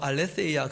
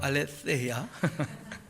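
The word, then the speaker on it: ἀλήθεια: 여러분, 이 진리라고 하는 말은 헬라어로 알레세이아 그렇게 얘기하는데 번데기 발음입니다. 알레세이아.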